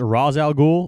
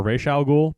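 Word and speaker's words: Ra's al Ghul: differently all the time one is raz al ghul or racial ghoul but he was not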